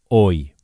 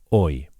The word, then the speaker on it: hoy: The word for today, today in Spanish is hoy. As you can hear, as usual, the H is silent. Hoy.